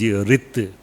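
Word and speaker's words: ฤทธิ์: Idhi, in Pali, in Thai, this is the Riddhi, but pronunciation is Rit.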